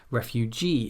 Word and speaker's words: refugee: Some suffixes are always stressed as the final syllable in a word.